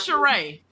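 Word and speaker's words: Cirie: It is Sheree. You're right. I'm wrong. It is Sheree. She has the accent on the end.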